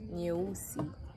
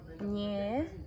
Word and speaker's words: nyeusi: So yeah, black in Swahili means is pronounced nyeusi. Nyeusi. Nye. Nye. U. U. Si. Nyeusi. Like Russian, nye.